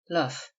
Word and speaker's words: loof: Hence the guns which lie here are called loof pieces. Loof, usually pronounced and spelled luff, which see.